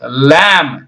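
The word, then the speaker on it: limb: டோம் டி ஓ எம் பி டோம் எல் ஏம்பி லேம் சரிங்களா அடுத்த செட் நாம பார்க்கலாம் படிச்சது தெரியணுங்கிறதுக்காக இவ்வளவு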